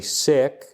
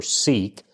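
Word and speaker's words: Sikh: know if if you're when I say sick I've been told that that's actually the proper pronunciation for seek so please don't think that I'm saying they are ill in any way uh I'm saying that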